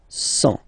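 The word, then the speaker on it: cent: Remember, final T not pronounced. 100.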